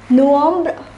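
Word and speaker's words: novembre: is pronounced as october november is pronounced as nuambra and december is pronounced as de sombra once again september is september october is october november is nuam and december is dissombra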